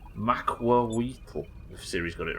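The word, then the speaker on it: macuahuitl: Macuauhitl. Macuauhitl.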